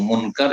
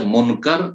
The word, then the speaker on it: মুনকার: তাদের দুইজনের নাম হচ্ছে মুনকার একজনের নাম এবং নাকির শুদ্ধ নাম হচ্ছে মুনকার এবং নাকির কিন্তু আমার দেশের লোকেরা বিকৃত করে বলে মনকির নাকির উচ্চারণ মনকির নাকি মুনকার